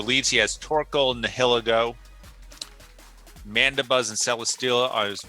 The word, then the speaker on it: Nihilego: So for leads, he has Torkoal and Nihilego.